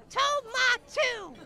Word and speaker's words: Tomato: And remember, when you meet my boss, make sure to pronounce his name exactly right. Oh, yeah? How does he say it? Tomatu.